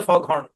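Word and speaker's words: foghorn: ওই যে হর্নটা দেয় ওটাকে বলে ফগ হর্ন বুঝছেন তো আলাদা সিলেবেলে জি এইচ দুটোই উচ্চারণ হবে এই সাইলেন্ট লেটার গুলো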